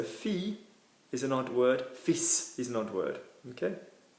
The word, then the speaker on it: fils: Fils is a word which is pronounced terribly weirdly because there is no E after the S, but we will still say fils, F-I-L-S. And we will pronounce the S.